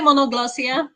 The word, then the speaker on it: Monoglossia: think about it well we just say monoglossia like polyglossia just regular kind of english which is also a